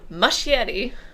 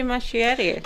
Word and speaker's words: Muschietti: And also Andy Muschietti, which I've recently been informed is, I think, how you pronounce it, has promised that we